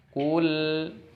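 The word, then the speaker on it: قُل: Contoh, kul terputus baru a, itu merupakan kesalahan. Jadi harus nyambung. Sebelum hamzahnya terucap, lam sukunnya harus nyambung, mengalir, tawasut.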